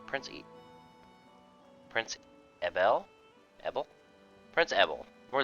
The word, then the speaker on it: Ebel: 55, and Prince Abel, I think it's Abel, but it's spelled like with an E. Prince Ebel?